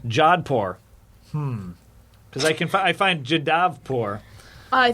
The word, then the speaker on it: Jodhpur: And you said it was in Jadavpur. Jodhpur. Jodhpur.